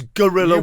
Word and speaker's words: guerrilla: You think it's guorilla war? Of course you do, cuz that's how it gets pronounced.